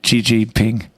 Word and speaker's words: Xi Jinping: Glory be to Xi Jinping.